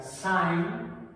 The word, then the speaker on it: sine: Comentario o breve cultural, en textos en inglés que son muy comunes que los consultemos, la seno se pronuncia sine, se escribe cine con S, no confundir cuando vamos a ver las películas.